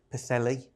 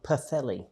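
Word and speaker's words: Pwllheli: And then went on to Pthelli, which is not spelled like how you say. None of the none other places are. Ptheelli.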